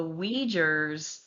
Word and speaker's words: Uyghurs: All right, y'all bear with me on the pronunciation of this stuff, okay? This is the Uyghurs of Xinjiang.